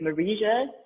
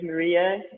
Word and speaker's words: Marija: normal letters and like everybody pronounces it like marija which is not exactly true my name is maria and uh this is